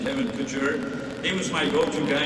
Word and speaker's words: Couture: Kevin Couture we say I think you said Kevin Kutcher we're Canadians we give up the French pronunciation Kevin Couture he was my go-to